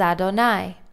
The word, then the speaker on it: Adonai: And again, we have El Moshe, to Moses, and the Yud Hey Vav Hey, which we pronounce as Adonai.